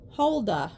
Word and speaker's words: Holda: about her okay so it says pronounced holda okay so we'll just we'll just go with that holda uh Rampage across the